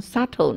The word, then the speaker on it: subtle: 很多字啊，像 subtle 那个字嘛，subtle，b 也不发音，有没有？